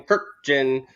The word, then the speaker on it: Kurkjian: shafe Stadium I'm Tim kirkjin yeah you know he always hardly says she always had that hard stuff yeah absolutely no you